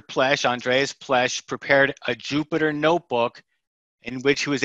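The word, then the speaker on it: Jupyter: development environment called notebooks particularly jupiter notebooks now jupiter is spelled j-u-p-y ter to reflect its python heritage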